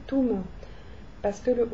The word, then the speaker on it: Tom: Par exemple, Tom ne va pas se prononcer Tom en arabe, ça va se prononcer Toum, parce que le O n'existe pas.